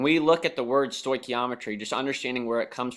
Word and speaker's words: stoichiometry: last word is not a typo it is pronounced stoichiometry a lot of times we'll call it stoick for short and it is your last unit in chemistry and we look at the word stoichiometry just understanding where it comes from and it's